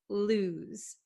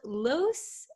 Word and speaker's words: lose: you understand the pronunciation lose Lo lose it's not loose and it's not loose okay it's lose Z okay this s sounds like a z lose lose so what